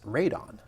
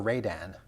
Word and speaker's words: Rodan: Well, the original Japanese way to pronounce it is Radon. Really? Yeah, or Radan. Really? But for whatever reason, I guess maybe to differentiate this kaiju from a poisonous gas, the American dubs are Rodan.